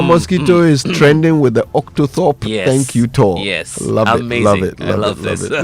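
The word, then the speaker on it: octothorpe: But its original name is the octothorp. Octo. Can you say that again? Octoorp. So, it's spelled O C T O T H O R P E.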